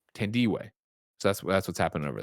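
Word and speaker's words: Tandiwe: her first name uh tandy t-a-n-d-i-w-e and it's pronounced tan d-way ten d-way so that's what's happening over there thank you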